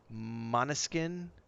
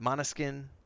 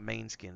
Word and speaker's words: Måneskin: But Måneskin, I think is how you pronounce their name. It's not Mainskin, it's Måneskin, I believe.